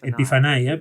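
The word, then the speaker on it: ἐπιφάνεια: La segunda palabra que se usa es una palabra que en inglés se escribe así: epifanía. En griego es epifanaia, pero lo deletrearé en inglés en este momento.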